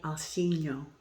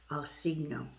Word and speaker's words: Alcigno: Richard Boo, the Minchiate Alcigno, C-I-G-N-O. I think the G is silent, so I think I'm saying it properly. Alcigno.